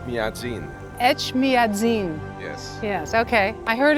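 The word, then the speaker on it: Etchmiadzin: say the name of the cathedral H madin ET madzin yes yes okay I heard it was almost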